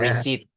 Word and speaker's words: receipt: with a p and we don't pronounce a p in this six words